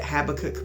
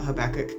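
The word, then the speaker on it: Habakkuk: So, um just the the book of Habach, and some people pronounce it Habacook, but I've always been taught Habachok.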